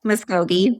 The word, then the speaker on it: Muscogee: So Indigenous higher ed prof, PhD, Cherokee, Muscogee. Did I pronounce that? Muscogee.